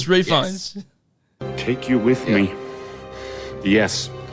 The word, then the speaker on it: Fiennes: menu featuring Ralph Venus actually it goes refines for some reason to pronounce the L on this but oh yes we totally had this conversation the last time we did it it's refunds take you with me